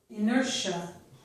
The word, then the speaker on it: inertia: Here, TIA also sounds like sh, inertia, okay?